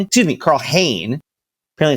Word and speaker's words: Hein: with us when the window closes uh Carl Hine excuse me Carl Hayne apparently it's not pronounce Ty everyone's saying it wrong uh the